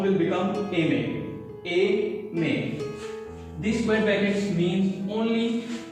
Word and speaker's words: aimer: This together become A may, and when you speak together A may, the sound will come as A may of this verb. So R is silent, you don't have to worry about it, just remember A may.